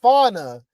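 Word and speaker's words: Fania: saying her name is Fauna, but she spell it f a n i a. So fine. It's spelled like fine, right? Or faia, however, right? But pronounced fauna.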